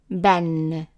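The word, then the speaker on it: بًا: So ba with one fatha, by adding the other one is like adding n sound to it. Ban. So ba, ban. And it is a short vowel. The alif here is silent, so it is not long. It's just ban, ban.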